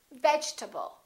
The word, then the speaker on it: vegetable: strange disappearing syllables occur in this case the e is dropped we don't say vegetable a lot of my students say vegetable or vegetable this e disappears and this a is reduced because it's part of the unstressed syllable and we say vegetable